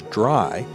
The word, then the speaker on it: DRY: first of those is dry code now I'm always going to pronounce that as dry but it's actually three letters D R Y which stands for don't